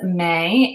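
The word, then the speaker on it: Mae: So my middle name is May and it's spelled M-A-E.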